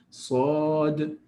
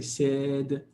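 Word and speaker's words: ص: Okay, you don't say said. It doesn't work because this sound, by definition or by nature or by the way it's pronounced, its DNA is emphatic. So it doesn't matter what comes before or after, it will always be emphatic.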